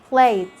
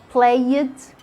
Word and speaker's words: played: all end with ed in so many cases the e is silent like when you say played asked looked you can't hear the sound of the e we don't say ask it we don't say play it we don't say looked